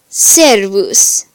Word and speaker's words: servus: S is always like the S in the English sing. So an example is servus, which means servant.